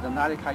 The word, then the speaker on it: Nadia: As you can see, I have a lady here, and her name is Nadia. Did I pronounce that right, Nadia?